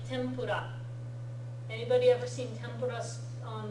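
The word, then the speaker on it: tempura: or n B and you might sometimes instead see it spelled with an M instead of an N like Tempur anybody ever seen tempas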